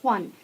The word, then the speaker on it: Kwan: That's how you say her name, Kwan. Kwan in Thailand means precious gift. So, but it's not gift, it's Kwan.